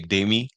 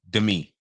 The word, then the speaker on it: Dami: they're coming from because if you say like we say dami like my niece is dami and they say Demi like Demi more right because the way they pronounce stuff is completely different so I get that